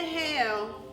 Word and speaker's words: Hale: We're here at Hidden Gems Literary Emporium inside of the one and only above our studios art gallery with Kenia Hale, like the weather.